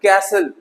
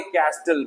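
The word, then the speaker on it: castle: कैसल ना के कैस्टल, महल।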